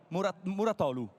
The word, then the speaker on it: Mouratoglu: I've wronged the accent you know or your pronunciation try Patrick muratolu it's wonderful perfect great okay pleased to meet